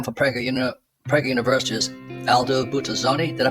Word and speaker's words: Buttazzoni: So heading up the program for Prager University is Aldo Buttazzoni. Did I pronounce that correctly, Aldo?